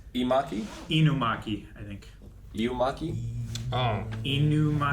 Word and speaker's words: Inumaki: But his name is Imaki. So we have a Maki and an Imaki. I think it's Inumaki.